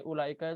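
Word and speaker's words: أولئك: buat yang berakal berarti ulaika itu khusus yang berakal mulai kalau muslim ada wownya tapi wownya nggak dibaca dan lamnya dipanjangkan Gimana cara bacanya jadi ulah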